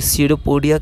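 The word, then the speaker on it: pseudopodia: इसे हम लोग सडोपोडिया कहते हैं। या पी साइलेंट होता है।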